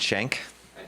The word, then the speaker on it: Shank: Shank, pronounced with an A.